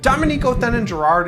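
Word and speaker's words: Dominique Othenin-Girard: and frenchman jimmy champagne dominico then in gerard is the correct pronunciation and despite the fact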